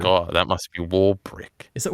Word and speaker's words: Warwick: So I was like, oh, that must be Warbrick. Is it? I'm pretty sure it's like Warwick, like right? Is there a B? Oh yeah, I think that's probably how you say it.